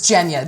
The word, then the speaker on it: Evgenia: I'm probably going to say her name wrong, but is it Evgenia or Evgenia? Evgenia? Is it Evgenia? It's Genya.